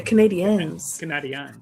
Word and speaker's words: Canadiens: You got to pronounce it the French way, Canadiens. Canadiens.